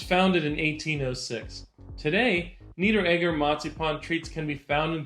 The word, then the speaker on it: Marzipan: In Germany, it's not marzipan, it's matzipon.